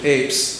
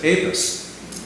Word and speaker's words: Apess: certified his wedding and the preacher who was there spelled his name apis now the preacher didn't know what how he spelled it he just heard it phonetically and wrote it down is my guest and so that suggests to me that he was not using Apes that he must have said apis and so I think that's